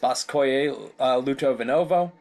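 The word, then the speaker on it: Спасское-Лутовиново: They owned a large country estate called, I believe that's pronounced Spasskoye Lutovinovo.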